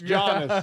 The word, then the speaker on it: Giannis: Let me correct y'all on how to say this. I never corrected nobody on jack crap. I'm about to pull a Gary right this freaking moment. Guys, guys, I got it. I got it. It's Jonas.